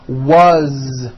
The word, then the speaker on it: was: Z ending his mom is Mary as you pronounce it with a vo Z as the phone rang was which is a very common word it was